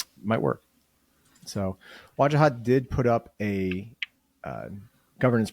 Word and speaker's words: Wajahat: Wajahat.